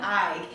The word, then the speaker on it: Eig: I was looking at that book, and I'm glad you pronounced his name correctly for me, because I was calling it wrong. It's Jonathan Eig.